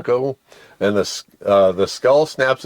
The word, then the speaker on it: Pwnco: It's PWNCO, Plunko. Punko, yeah. Plunko.